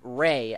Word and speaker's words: Rei: It is, according to the wiki, the AI sound is pronounced Ray, as in R-A-Y. Or R-E-I in Japanese. Rei Ayanami.